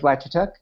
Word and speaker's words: Vlad Chituc: my name's you came very close pronouncing my name correctly that's rare so thank you for that uh my name is black chuk uh I'm a 24-year-old durite I live in